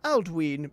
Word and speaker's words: Alduin: Alduin is pronounced Aldween because of the long vowel sound on the Y.